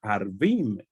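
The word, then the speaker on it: ערבים: Ahora, si el punto vocálico se pone aquí un pataj, perdón, un kamax, entonces sería Arvim. Y Arvim sería árabes.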